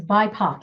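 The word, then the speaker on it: BIPOC: a great question and it's bipac is how we say it thank you i wanted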